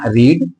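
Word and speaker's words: read: थे जिसे मैं यहां रीड हा लिखे इसको पढ़ेंगे रीड इसको क्या पढ़ेंगे रीड लेकिन सेकंड और थर्ड फॉर्म इसका जो उच्चारण होता है रीड रेड रेड क्या पढ़ेंगे रेड है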